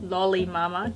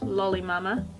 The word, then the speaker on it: Lolli Mama: on here is dolly lolli lolli mama damn it this is my second time pronouncing it wrong lowly mama next one is similar